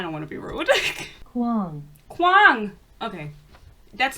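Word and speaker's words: Kuang: Kwang.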